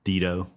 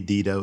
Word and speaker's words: Dedeaux: It could be Dedo. It could be, but you know, it's kind of like in Texas we like to mispronounce things and so that's how we pronounce it in Texas.